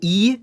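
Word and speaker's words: И: It's called E, and it sounds like E or I.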